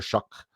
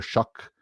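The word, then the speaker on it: Shough: Uh the rookie uh QB uh Tyler Shuck um yeah um Tyler Shuck. Uh stupid. Uh it doesn't even like why is it Tyler Shuck? It when it's spelled Shiao.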